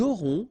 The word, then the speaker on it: aurons: J'aurai, tu auras, final S not pronounced, il aura, elle aura, nous aurons, final S not pronounced, and then you make